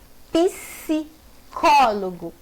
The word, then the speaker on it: psicólogo: Psicólogo. Psicólogo. Esse PS é como se eu tivesse um I subtendido ali.